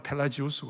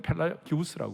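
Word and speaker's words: Pelagius: 하나는 펠라기우스라는 사람이 있고 미국 발음으로는 펠라지우스고 한국은 펠라기우스라고 그러고 어거스틴이 있었어요.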